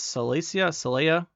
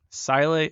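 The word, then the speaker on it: Síle: Next up, we have, is this Saleya? How do you say your name? Sile.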